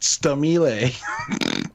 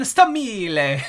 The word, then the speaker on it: Stamile: Oh shit, her last name's pronounced Stamile. Stamile? That's why. Lauren Stamile.